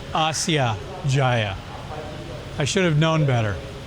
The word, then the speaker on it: Asia Jaya: Well, I found out on the train that this station is not called Asia Jaya. It's pronounced Asya Jaya.